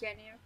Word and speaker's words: Ginyu: They pronounce it as Ginyu.